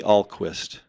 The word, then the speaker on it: Ahlquist: for people spell the name for them and pronounce it for them so it's Alquist AHL quu i s t yeah and they'll